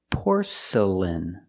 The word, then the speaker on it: porcelain: Pronunciation, porcelain. The first syllable is the sound or, like door and more, por. Porcelain. The next two syllables are not stressed, they are relaxed. Make the sound porcelain.